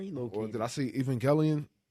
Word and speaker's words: Evangelion: galileo he shot corrected he pronounced it exactly how it's spelled but i'm like brother